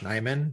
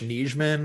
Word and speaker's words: Nijman: So, I actually had a pinned tweet for a long time to like let people know that it's Yosh Nijman, not Yosh Nijman or something like that, So every time